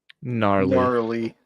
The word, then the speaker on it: gnarly: Gnarly.